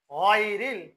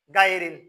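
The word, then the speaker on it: غير: তাহলে এটা হবে কি আন আমতা, এটা হচ্ছে আইন, আন আমতা আলাইহিম গায়রিল। এটা ভুল করে কিরকম, বলে যে গাইরিল, এটা কি বলে?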